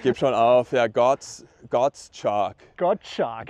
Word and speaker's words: Gottschalk: Gottschalk. Gottschalk, so wie Kreide, nämlich Chalk ist ja Kreide.